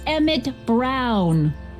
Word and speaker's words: Emmett Brown: to a tee yeah that's Emmett Brown rhymes with clown which I'm beginning to